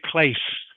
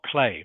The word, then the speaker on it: place: Of course, it's spelled with a C, but it is pronounced S. All right. So, you must say place, not play.